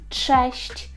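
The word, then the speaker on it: cześć: вивчення польської мови Це честь честь честь так чуємо бачимо ми фактично дві букви цз але вимовляємо як ч честь - це Привіт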